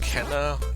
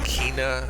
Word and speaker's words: Kena: Apparently it's pronounced Kena, not Kina, as I've been saying up until now.